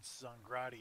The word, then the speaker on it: Zongrady: I think I've said Zongrady in the past, but Phil says accent on the first syllable.